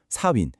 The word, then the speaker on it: Samhain: 발음이 좀 어렵죠. 4윈.